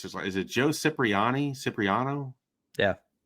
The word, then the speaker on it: Cipriano: I was looking up Nebraska's all-time seasons, and I don't know how to pronounce his. Is it Joe Cipriano? Yeah, Cipriano.